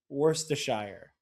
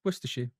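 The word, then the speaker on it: Worcestershire: The correct pronunciation of the word. I know that everybody around me has always said Worstshshire.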